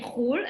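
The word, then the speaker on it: חו״ל: So for example, we say khul, abroad. Khul is the abbreviation for chutz la'aretz.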